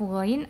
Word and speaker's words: غ: Nah, itu menandakan bahwa huruf ghain adalah salah satu huruf yang dibaca tebal karena memiliki sifat istila'la, yaitu suara diarahkan ke langit-langit hingga menjadi tafkhim atau dibaca tebal, ya. Nah, dibaca tebalnya ini dengan mengangkat pangkal lidah agar membentuk cengkungan.